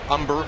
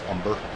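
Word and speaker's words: Humber: there's a native Texan umber again silent h is that what we're going pretty sure that's s h yep he was a big time College pitcher at Rice and I'm pretty sure it's umber like burnt umber like you get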